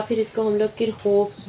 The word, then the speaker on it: Kirchhoff: कह सकते हैं, या फिर इसको हम लोग किरहोफ्स भी कह सकते हैं, ठीक हो गया। कि आप लोगों ने इसको किरचॉफ पढ़ा होगा, तो मैं भी किरचॉफ से आपको समझा देती हूँ।